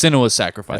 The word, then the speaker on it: Senua's Sacrifice: If It's- anyone's wondering to how to pronounce it, it's Senua. Yeah, it's Senua's Sacrifice.